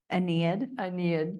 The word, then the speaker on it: Aeneid: When I looked up I knew I was going to mess this word up, and I even did it phonetically. Aeneid, thank you.